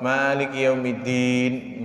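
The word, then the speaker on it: مَالِكِ يَوْمِ الدِّينِ: Yau ini kebanyakan orang salah ngebacanya o, maliki maliki yaumiddin. Dia nggak salah, menurut dia nggak salah, padahal itu adalah kesalahan karena merubah. Dia hurufnya u, maliki maliki yaumiddin. Dia lembut, yaumiddin, ya, maliki yaumiddin.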